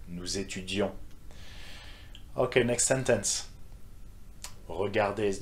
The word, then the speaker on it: étudions: The on sound at the end. Nous étudions.